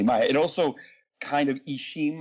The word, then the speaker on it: Ixim: It also kind of Ishim, I-X-I-M, the X is pronounced as sh, means corn.